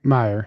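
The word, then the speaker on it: Meier: Meer.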